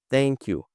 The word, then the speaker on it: thank you: Thank you. Thank you. Aqui tem o som do th, né? E temos um link aqui do K com, com esse Y. Thank you. Thank you.